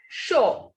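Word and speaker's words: chaud: So this first word is sho. This D will not be pronounced.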